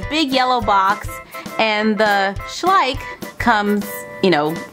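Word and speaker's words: Schleich: briers now I know the sign behind it does not say briers it says schlik and I hope I pronounce that right because I just looked it up on YouTube schlik schlik I think she said schlik yeah she said schlik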